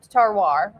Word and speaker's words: terroir: even wine connoisseurs because terroir is real, which is a French word. Yeah, so when you talk about terroir, why don't you explain that for us tonight? So it's pronounced terroir, or I think I got that pretty close.